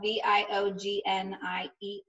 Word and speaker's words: Viognier: And it's spelled V-I-O-G-N-I-E-R.